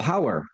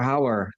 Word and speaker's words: Houwer: Turks Fruit, or Turkish Delights, from 1973, the year I was born, produced by Rob Hauer, that is spelled Houwer, pay attention kids, directed by, of